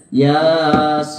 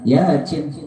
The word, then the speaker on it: Yasin: Yasin P bukan begitu ya-nya dua harakat sinnya en harakat ya y-nya mad badal sinnya itu mad wajib mukhafaf Harfi Ya wajib apa lazim mad lazim mad lazim mukhafaf harfi enam harakat jadi harusnya bacanya Yasin en harakat bukan yacin bercanda itu nah Barang siapa